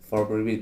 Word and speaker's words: 4 Pre-Beat: Bukan kalau Ika tadi bilang pre-beat, bukan. Memang ditulisnya di Instagramnya 4 pre-beat. Begitu. For pre-beat bacanya.